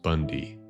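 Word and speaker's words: Bounde: The issue is that our last name is Bundy, spelled B O U N D E, but pronounced Bundy.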